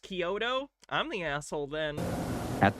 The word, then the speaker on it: Chiodo: Wikipedia says their name is pronounced Chiodo.